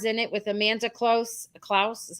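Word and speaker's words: Kloots: Klaus is how you say it.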